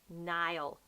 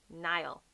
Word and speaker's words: Niall: can be me all kneel but it's actually Niall Niall so that's how you pronounce Rowan's father's Neum and then actually in